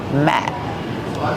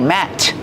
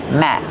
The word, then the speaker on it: mat: Use the short a sound like black cat. Matt. This is a placemat. It goes on your dining room table. And what about the letter T? The letter T at the end of the word Matt is a stop T. We don't say Matt. We stop the air. We don't release the sound.